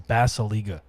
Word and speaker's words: Basalyga: My last name is Basaliga, Oh, Basiliga. and Okay. it's spelled like Basalyga.